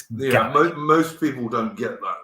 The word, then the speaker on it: Gaelic: And I say Gaelic because that's how they would say it. They wouldn't say it like the Irish say it, Gaelic. It's Gaelic.